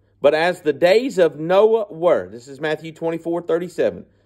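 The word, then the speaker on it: Noe: the original document that no OE is Noah and uh phonetically you can pronounce it Noah okay we would say no unless you're from Mississippi and that's your last name then they all say Noy but no Noah but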